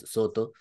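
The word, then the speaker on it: Sōtō: tjing era precisamente la escuela Soto pronunciado en japonés Soto que entonces llega por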